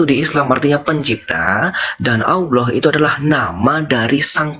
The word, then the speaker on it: Allah: Di imanmu juga kamu mungkin kenal istilah Allah, tapi pelafalannya berbeda. Mungkin Allah, tapi ditulis dalam Latin dia Allah, A-L-L-A-H, ya kan gitu. Atau bahasa Arabnya Alif Lam Lam Ha, ya kan?